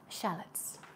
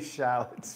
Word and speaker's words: shallots: about 1/4 cup of shallots so let me get that Heat going so Catherine says that the emphasis is on the second syllable shots so that would be just say shallots for you I just